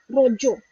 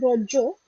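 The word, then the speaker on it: Raja: Now one of the festival which I would like to tell everybody Rojo. It is spelled as Rojo. R A G A.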